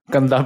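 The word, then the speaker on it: गंदा: Not gaba. Gandha.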